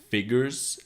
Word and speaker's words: figures: word is figures Biggers so the S at the end figures is almost like a Z figures figures okay figures